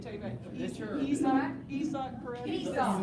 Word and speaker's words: Isaac: Esau. Spelled like Isaac, yeah. Isaac and you call him Esau.